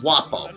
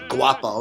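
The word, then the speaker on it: guappo: word it was called wapo or wapo and it was g-u-a-p-p-o or u at the end and you know when in italian the g is silent so you don't say guapo you say like i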